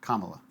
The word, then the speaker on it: Kamala: formal apology because it's the pronunciation is Kamala how hard is this